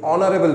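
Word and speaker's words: honorable: না আমরা কি বলি অনারেবল পার্সন এইচ আবার সাইলেন্ট অ এর মত উচ্চারণ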